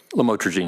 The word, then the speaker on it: lamotrigine: DRUGS, ABOUT THE THE LAMICTAL, OTHERWISE KNOWN AS LAMOTRIGENE. I PRONOUNCE THAT RIGHT. LAMOTRIGINE. YES. LAMOTRIGENE.